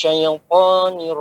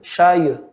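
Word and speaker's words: الشيطان: A'udzu billahi minasy syaithanir rajim. Ya, hati-hati syayu. Jangan syayu. Dia ya sukun sebelumnya fathah. Syai lembut.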